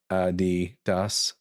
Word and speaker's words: Adidas: That's why it's called Ad Doss.